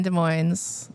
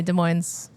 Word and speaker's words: Des Moines: Anyway, Des Moines. You got to pronounce the S in Moines, though, because it's not Iowa, it's Washington.